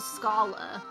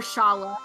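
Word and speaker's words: Schala: of a branch-off story of what happened to scala or schaller however you you know your personal preferences are pronouncing her name uh it's this is kind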